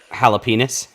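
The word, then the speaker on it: jalapeño: __ ] shoot myself 35 minutes it's a jalapeno and all she's done is cut jalapenos holy crap jalapenos pinots pinots it sounds like you're saying peanuts i can't do that that's terrible jalapenos yeah that's what it sounds like oh god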